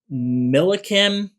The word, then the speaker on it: Millikin: Millikin, that's how you pronounce it.